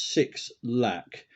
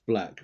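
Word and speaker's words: 6LACK: Now, the track number 6 is The Pink Phantom, featuring Elton and this act that appears as 6 Lack, which could be pronounced black when you look it up.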